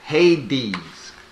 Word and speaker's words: Hades: that's like hey the grays what does that word say you forget that's two syllables in that word that word says hadees that's how you spell hades in greek yes i'm talking about that